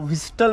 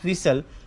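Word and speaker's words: whistle: 13 number आहे विसल विसल म्हणजे शिट्टी याला देखील 90 टक्के लोक विस्टल म्हणून असं ओळखल जाते याला म्हणतात विसल विसल म्हणजे शिट्टी याच्यामध्ये टी हा सायलेंट आहे नंतर आहे सायकॉलॉजी सायकॉलॉजी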